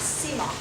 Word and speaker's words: Simon: Okay, so my name is Simon, and it's a funny way to pronounce Simon, I know. My husband is Cajun French, but it's pronounced, because people always ask, and this is why I mention it, but it's pronounced Simon. Simon, yeah.